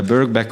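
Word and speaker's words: Birkbeck: at beback College in or is it uh pronounced berck yes uh berck College uh in London where he thought uh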